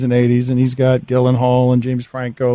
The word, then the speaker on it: Gyllenhaal: No, you're all right, Gyllenhaal.